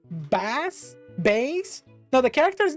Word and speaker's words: Bass: It's pronounced bass, but because he is bass, he's kind of a loser in some of the games.